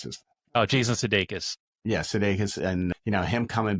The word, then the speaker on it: Sudeikis: How do you pronounce his? Oh, Jason Sudeikis.